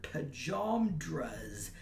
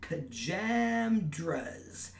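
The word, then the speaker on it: pajamas: where I grew up, everybody pronounced the word pajamdras to rhyme with dramas, with the middle A as in water. I would always taste the tomato sauce that people put on pizzas. Then I moved out to West Contra Costa, and people pronounced it pajamdras, with the middle A as in hammer.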